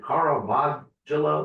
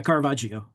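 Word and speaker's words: Caravaggio: there was one guy, is it Carl Vadelo? There was one guy that was really big in in in lighting. Did I say it right? Yeah. Carvajio. Carvajio.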